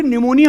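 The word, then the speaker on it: pneumonia: जब बचपन में मुझे निमोनिया हुआ और मुझे यह पता चला कि निमोनिया की स्पेलिंग एन से नहीं पी से शुरू होती है। कहते हैं पी साइलेंट है।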